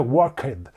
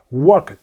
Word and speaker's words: worked: un poco de acento worked. No se pronuncia ed. Esa ed suena... Lo más cercano es decir que suena como una T. Worked.